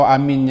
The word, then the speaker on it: آمين: Pertama, mempanjangkan huruf hamzah, 2 harakat atau lebih juga boleh. Amin. Kena guru di situ. 2 harakat.